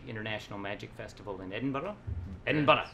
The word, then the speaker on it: Edinburgh: Edinburgh. You got to say it like the Scots, laddie.